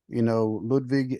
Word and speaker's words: Ludwig: Gunther's going to have his two minions there, Ludwig and Giovanni and Ludwig, right? Yeah. Ludwig, however you say it. Ludwig. Oh, Ludwig. Ludwig? I thought that was a W. Yeah, but it's the German pronunciation.